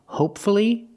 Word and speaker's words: hopefully: why is it different the first word hopefully the stress is on the first syllable and there's only one syllable before f l l y if there's only one syllable before f l l y pronounce the U hopefully and now we